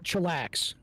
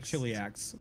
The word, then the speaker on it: Chiliax: Yeah, it's I need- pronounced chillax. I need you to chiliax, Luna. You Chiliax. It's pronounced chillax.